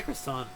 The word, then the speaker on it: croissant: Croissant is the French way of saying croissant. Croissant. They don't have the T. They don't have the T. They just have the croissant.